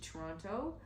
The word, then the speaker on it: Toronto: You can see she's not original Toronto. She's not Torontonian. That's why she said Toronto. It's Toronto. Yeah, I pronounce my syllables.